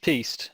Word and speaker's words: piste: It's normally pronounced piste unless you were talking about something else.